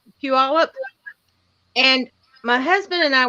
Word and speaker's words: Puyallup: But when I first moved out there, I didn't call it Puyallup. I called it Pull Y'all Up.